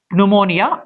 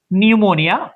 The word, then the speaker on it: pneumonia: relevant constant after this it's not pneumonia it's pneumonia only from N we just have to